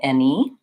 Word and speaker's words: any: But sometimes it can be tricky and it's spelled with an A, like in any, or says. Or it can also be spelled with AI, like in again.